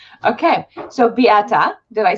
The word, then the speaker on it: Beata: pronounce your name because i don't want to pronounce it wrong okay so biata did i say that right yes awesome okay